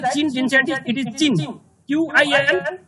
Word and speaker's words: Qin: Q-I-N, it is pronounced Qin, not Queen.